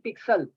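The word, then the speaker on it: pixels: हैं लव्स है pigsals मैं ज़ी की आवाज़ निकल रहा हूं एक्स की आवाज़ निकलना हो लोग पढ़ते हैं पिक्सल पिक्सल कोई लव्स नहीं है असल लव्स है पिक्सल स्पेलिंग है पी आई एक्स आई एल पिक्सल्स ठीक है तो सही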